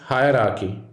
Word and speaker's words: hierarchy: next letter is h it is not hierarchy it's hierarchy remember hierarchies go higher than you might think this one is pronounced